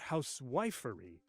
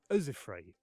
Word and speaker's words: housewifery: Not housewifery, but usifrey.